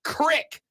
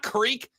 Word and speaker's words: creek: Texter says, Rob, first, it's pronounced crick, not creek.